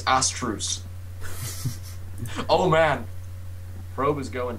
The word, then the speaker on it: essthric: I'm just correcting you a little bit. It is essthrice.